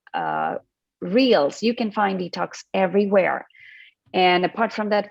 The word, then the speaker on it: Dtocs: that spelling is actually different that spelling is d-e-t-o-x which is for your information and my company is called detox and it's spelled as d-t-o-c-s so this is a different